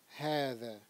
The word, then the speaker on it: هذا: today is the word Hada. Hada. The word Hada here, the way it's written, it looks like Hada. That's because the aleph that comes after the ha is pronounced, but it is not written.